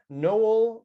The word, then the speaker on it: Noel: the show noel ah thanks kevin and it's pronounced noel because i was born on christmas day ah